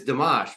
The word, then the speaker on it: Domash: legit you know like it's and it's deash but it's D msh I would say it's